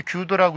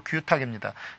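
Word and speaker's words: 揆度: 우리 이때 규도라고 읽으면 안 되고 규탁입니다. 헤아릴 규, 헤아릴 탁 이렇게 읽어야지 이것을 헤아릴 규, 젤도 이렇게 읽으면 안 된다는 거죠.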